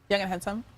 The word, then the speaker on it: Yang Hansen: I heard somebody online saying that that you pronounce his name like say young and handsome real fast. Young and handsome.